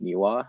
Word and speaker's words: NIWA: nintendo independent wiki alliance is that pronounced miwa as the acronym yeah okay so what